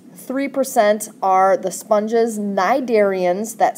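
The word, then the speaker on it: cnidarians: percent are the sponges naidarians that c is silent in cydarians right here i just you can't see it anymore but the c is silent ekinoderms and then other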